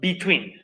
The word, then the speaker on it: between: preposiciones, es la palabra between. Between. Es como si las dos fueran letras I, por si acaso. Aunque ahí aparecen puras E, las dos se pronuncian como si fueran dos letras I.